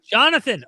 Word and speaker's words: Jonathan: Janada? Uh, Yanada? You you can pronounce like the brother of the the the friend of David Jonathan. Jonathan.